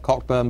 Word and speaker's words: Cockburn: I'm not responsible, but all Cockburns carry this mission through life, is your name is spelt Cockburn, but you pronounce it Cockburn.